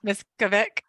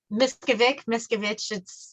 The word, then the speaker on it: Miskovic: So I wanted to introduce Miskovic. Did I say that right? Yeah. Miskovic. Miskovic. It's ick.